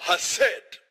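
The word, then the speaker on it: חסד: Tem que pronunciar com som gutural. Hased.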